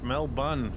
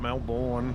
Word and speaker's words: Melbourne: canberra it is canberra two zero and it's mel bunn not melbourne no matter what the olympic uh committee would